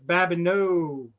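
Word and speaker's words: Babineaux: think of the LSU it's Babino it's like e EA X on the end or something yeah yeah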